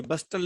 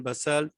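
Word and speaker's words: bustle: ये बस्टल नहीं होता बेटे, हसल एंड बसल T silent है।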